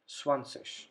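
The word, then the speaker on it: zwanzig: sesh we have the complete different word here swanseash then number 30 it's called dry sich in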